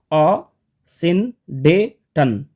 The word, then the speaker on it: asyndeton: ई टी ओ एन and phonetic transcription आप देख सकते हैं यहां पे ए अ सिन डेटन असिन डेटन स्टूडेंट्स अब हम लोग जानेंगे कि ये असिन डेटन एक्चुअली होता क्या है